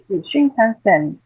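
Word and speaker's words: Shinkansen: my audience the train the speed train the shin kenen yeah sure shinen what's the correct pronunciation shinen the bullet train that goes from Tokyo to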